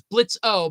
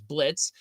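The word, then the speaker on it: Blitzø: morons we have H Blitz the O is silent or is Blitz o but the O is silence is Blitz we have Moxy Millie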